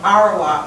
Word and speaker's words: Arawak: Okay, so let me give you the pronunciation of it, okay? Taino? There you go. Taino. Arawak.